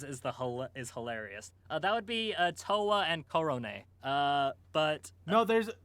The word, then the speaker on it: Towa: Tawa is unquestionably the cutest, but would you say Kirio, Picoro, Botan, or Corone has the most infectious laugh?